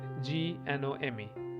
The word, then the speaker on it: GNOME: We pronounce it Gnome.